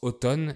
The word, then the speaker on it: automne: et le printemps alors on prononce automne et le mm est muet on dit être en